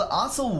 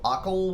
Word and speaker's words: Occil: It is called Occil Wetlands. I think that's how you pronounce it. It's O-C-I-L. Occil Wetlands? It can't be. It has to be a soft C.